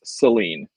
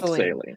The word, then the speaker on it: Saline: ahead and correct here um in Michigan it's pronounced with awah it's Seline Seline yes exactly it's not saline yes let's just the other thing about that